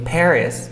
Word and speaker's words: Paris: Paris. A ver tú. Paris. Así se pronuncia París en inglés. Como Pérez, pero como gringo.